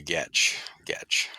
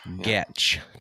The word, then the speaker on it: Goettsch: Goettsch. Goettsch.